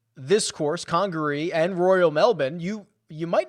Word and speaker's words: Melbourne: I believe that Royal Melbourne is probably the best comp, or as our Australian friends would say, Royal Melbourne would be the proper way to pronounce that.